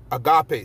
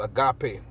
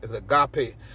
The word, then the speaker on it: agape: ariali brought this this this world agave man agape selaki agape let me see if i could pull it up this word agape some people say agap but the word is pronounced agape it says in christianity which we're not in